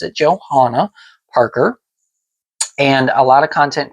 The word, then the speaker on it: Johanna Parker: and I pronounce it the way that she pronounces it on her blog, which is Johanna Parker.